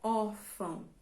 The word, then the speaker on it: órfão: de trás para frente então órfão é uma palavra que tem duas sílabas então nós temos última e penúltima sim mas qual das duas é mais forte quando você pronuncia você